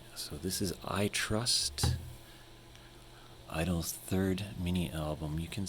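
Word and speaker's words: (G)I-DLE: I'm pretty sure the correct pronunciation of the group is just Idol. The G stands for girls, I think, and the rest of it is some sort of Korean wordplay, Korean English wordplay.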